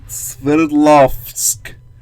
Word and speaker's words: Sverdlovsk: Sverdlovsk. It's you say it the way it's spelled.